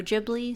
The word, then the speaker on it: Ghibli: are accurate of Studio gibli yep studio gibli studio jibli same thing different pronunciation and here we are